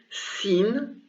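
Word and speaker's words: سين: two more consonants the first one is called scene this one scene and it's pronounced s and the second one is called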